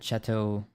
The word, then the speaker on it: chateau: How do you pronounce this word? Hold on. I'm doing some research. Chateau. Chateau. I was like... close.